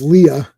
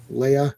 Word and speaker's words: Leia: That's Princess Leah. Leia. That guy. It always irks me when someone says it weird like Krypton or Leah. It's like and I'm like no that's not how it's said.